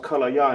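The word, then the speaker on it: כליה: Can English is pronounced kallaya in Hebrew. Kallaya.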